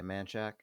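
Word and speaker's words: Manchaca: We cut off a syllable or a vowel in every word, basically. So instead of like Guadalupe, wherever we say the Guadalupe, instead of Menchaca, the street say Manchac.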